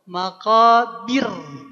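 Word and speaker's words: مقابر: ayat keduanya hatta zurtumul Maqabir tipis. Kenapa maqabir jadi tipis? Karena sebelumnya huruf berharakat kasrah.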